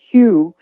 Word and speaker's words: HU: One of my favorites is um there's a a sacred ancient love song to God called Hugh. It's spelled hu and it's sung like a chant.